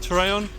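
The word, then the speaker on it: Torreón: in the town of Torreon. You have to roll your R's. We're in the town of Torreon.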